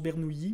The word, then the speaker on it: Bernoulli: bernouilli jeu se pose si peut-être que l'italien on le prononce bernouilli moi j'ai toujours dit bernoulli donc je veux continuer avec ce côté sinon ben si en